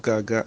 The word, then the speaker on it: gaga: But here in the G series, we have Gaga, and Gaga, as I said, is spelled G-A-G-A, and the stress marks on the vowels are the first A falling from left to right, and the last A rising from left to right.